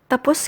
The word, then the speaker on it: tapos: report let's now study tapos tapos again please note that the stress is on the second syllable and the meanings are